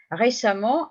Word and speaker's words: récemment: Récemment, R et accent aigu, CE, 2M, ENT, puisque je prononce amant.